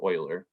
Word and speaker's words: Euler: It looks like it's pronounced Euler, but it's actually pronounced Euler.